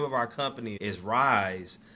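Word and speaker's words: RYSE: of our company is Rise um R and spell it R Y S E you know recognizing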